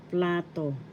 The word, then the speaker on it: plato: In Spanish, plato. Plato. Plato. First syllable pla, second syllable to. The accent is in the first syllable, plato.